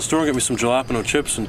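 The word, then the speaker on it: jalapeño: Jalapeno? What flavor is that? Ricky. Jay Silent. You're saying it wrong. The J's like an H, Ricky.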